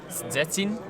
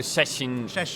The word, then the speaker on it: Szczecin: the correct pronunciation, and it's something like Szczecin. Szczecin? Yeah, you don't. Okay, you don't read the Z. Okay, so Szczecin Pauper League.